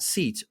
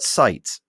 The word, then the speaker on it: Seitz: It is pronounced not Seitz, but Seitz.